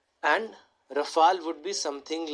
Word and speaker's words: Rafale: So if you would ask somebody who is French how to pronounce this, they would say Dassault. For them, this will be something like this, and Rafale would be something like this.